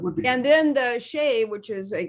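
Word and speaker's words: Xi: be and then the shea which is a if you pronounce it as you would in in chinese uh is the prime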